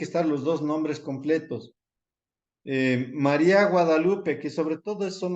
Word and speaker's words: María: Que si María lleva tilde, sí, en la I, María, es un diptongo. Y todos los diptongos se tienen que romper para convertirlos en hiatos. Entonces, María, acuérdense, siempre la sílaba débil es la que se acentúa cuando viene acompañada de